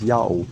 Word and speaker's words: Yahweh: The first inclination of Prof. Tabor to pronounce this word as Yahweh was correct.